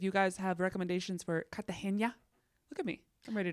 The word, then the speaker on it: Cartagena: I'm ready to go I actually think it's pronounced Cartagena my life yeah actually I actually just asked Tick Tock I saw where someone's like all Americans call it Cartagena it's Cartagena and I'm like all